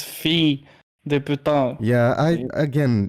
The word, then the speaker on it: fille: I think you said fills, but it's fille de putain.